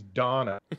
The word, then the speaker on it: Dana: East 8th lacrimosa of Dana no she's not Dana she's Donna do and so there's